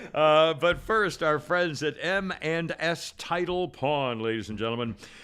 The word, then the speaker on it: M&S: M&S, and I say it like that because it sounds like eminence.